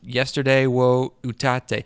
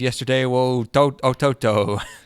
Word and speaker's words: Yesterday wo Utatte: He pronounced it all weird the other night. He was like, the only show I care about is Yesterday wo Ototo. It's like there's no Ototo in this.